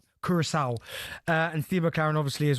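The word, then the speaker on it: Curaçao: you say it Kev because you're your Kurissau and Steo McLaren obviously as well resigning.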